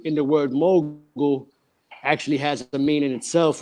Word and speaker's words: Mogel: Mogul, well, the word mogul, which is Mogul, I spell mogul with the pronunciation of the word mogul, which is in the dictionary.